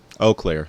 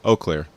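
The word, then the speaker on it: Eau Claire: uh I'm I'm excited oakair sorry it's not you Clair oair I'll make sure I pronounce it correctly for the rest of the video oair about it and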